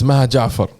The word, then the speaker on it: Maha Jafar: you let me know how it should be pronounced you know correctly for them it's mahajafar oh okay i tried